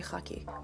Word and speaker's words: khaki: lenses in the color cocki yeah cocky is that how you guys say it I pronounce it differently I mle I say haki but you know but